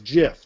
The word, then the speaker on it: GIF: probably also say that the graphics format is GIF not GIF well the inventor said it's Jeff like the peanut butter but well the inventor